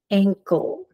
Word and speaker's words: ankle: Ank, ul, ankle. It sounds a little different than how we would naturally say it. But if we were to say it like it is spoken, it would sound like ang, col.